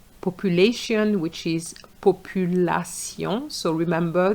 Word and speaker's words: population: population which is population. So remember the A in French is a. So you cannot say A population.